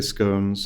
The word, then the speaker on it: scone: them this morning U there's a big debate on how you pronounce it some people say scones some people say scon I'm a scon side so and then when